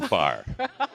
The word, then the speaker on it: Farr: but I also tell everybody, please, Loretta, the T is silent in Farr.